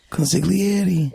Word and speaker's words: consigliere: can say consigliere yeah but you don't have to say the G consigliere Danny has some sort